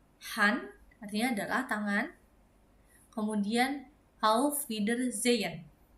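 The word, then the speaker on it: Auf Wiedersehen: Kemudian how feeder zen artinya adalah goodbye. Atau bisa juga dibaca a feeder zen.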